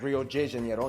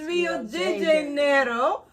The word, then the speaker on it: Rio de Janeiro: That's right, it's pronounced Rio de Janeiro, not Rio de Janeiro. Get it right, we're not in Mexico, this is Portuguese, not Spanish.